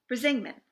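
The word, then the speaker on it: Brísingamen: Brisingman, which is spelled Brisingmen.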